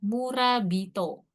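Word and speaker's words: 村人: Oke, nosong, lalu ada murabito. Kanji mura sama Itu. hito, dibacanya tapi bito di sini ya, murabito.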